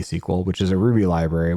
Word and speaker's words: Sequel: that app uh SQL spelled like a a movie squel which is a ruby